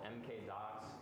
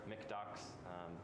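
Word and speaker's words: MkDocs: popular python one uh called mk dots or mark docs or mcdocs there's like a few different ways to pronounce it i usually call it markdoc it's basically a pretty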